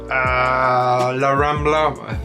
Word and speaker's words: La Rambla: It's pretty easy, it's well connected, it's about a couple of stops from La Rambla, that's how you pronounce it.